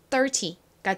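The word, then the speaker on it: thirty: 더 해볼게요 30 좋습니다 13과 30는 강세의 차이가 있어요 13 같은 경우에는의 강세가 있습니다 뒷부분에 강세가 있는데 반에서 30은 앞에 강세가 있어요 앞에 강조를 빡 해주면서 30 이렇게 발음해 주셔야 됩니다 30과 13 한번 번갈아가면서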